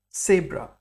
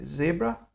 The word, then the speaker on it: Zebra: and the word is Sabra so you need to pronounce the T and the s in order to pronounce s so you'll hear me say zebra I don't say zebra but Sabra fantastic so these were